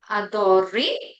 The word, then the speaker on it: adorer: जो ईआर की प्रोनाउंसिएशन आती है वो ए जाती है.